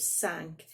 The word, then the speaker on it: cinq: when you sing it you don't pronounce look at the end of sank it disappears when it's followed by other words just son so it's